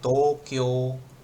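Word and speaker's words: 東京: Jadi kalau orang Jepang bilangnya Tokyo, Tokyo. Jadi O-nya yang panjang, U-nya kayak nggak ada U.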